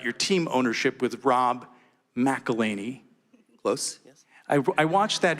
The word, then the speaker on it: McElhenney: documentary series about your team ownership with Rob McElhenney. Close, yes. I watched that video in which you tried to get people to pronounce his name.